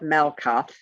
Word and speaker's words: Malkuth: M-A-L-K-U-T-H. TH is pronounced T. Malkut, not Malkuth or Malkut.